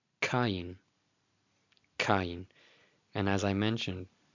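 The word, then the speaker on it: קַיִן: For the letter Kof, maybe somebody used the letter Q, and that's fine. as long as we're both saying kain.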